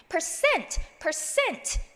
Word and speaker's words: percent: percent 같은 경우 percent 아니라 percent 하고 cent에다가 액센트 주시고요.